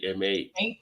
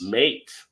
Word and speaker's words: M8: Now you may say M8 is about to open, but it's actually pronounced Mate. Mate. So you see what they did there? The M and the 8, they just made it Mate.